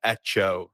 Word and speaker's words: Hecho: you're so good at what you do at ETO Studios did I say that correct you said